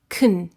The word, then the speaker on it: can: Can is a function word, so it's unstressed in a sentence. This means the vowel is reduced and we use the weak form, which is kn. The schwa vowel almost completely disappears.